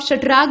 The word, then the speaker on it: षटराग: इसको आप षटराग भी पढ़ सकते हैं। खटराग भी पढ़ सकते हैं। असल में मूर्धन्य श जो होता है ना इसको कहीं-कहीं ख के उच्चारण में भी इस्तेमाल करते हैं। ठीक। हालांकि ये होता है श और श ही इसको पढ़ना चाहिए। लेकिन ये बोलचाल की गड़बड़ियां है।